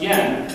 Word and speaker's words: Jan: smart his name is Yen spelled Jan he's from Denmark so it's pronounced Yen like Japan's money and oh by the